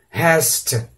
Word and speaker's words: has to: Mas na obrigação não, ele é pronunciado no have como um F, have to, has to, ok?